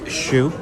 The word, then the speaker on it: choux: It is a chocolate choux. That's CHOUX. Trust me, I listened to the pronunciation like 6 times on YouTube just to